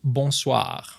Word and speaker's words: bonsoir: And same thing for bonsoir. Good evening. Bonsoir. With once again, the rolling R sound at the end.